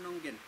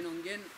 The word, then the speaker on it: Nonguén: Los mapuches lo pronuncian Muñén. Y lo castellanizaron y le pusieron Nonguén.